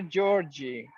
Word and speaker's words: Georgi: All right, dear Georgie, the Georgie, Georgie, how you pronounce it? George, it's easier for Georgie, you. okay, George. In Fine. Russian, it's Georgi.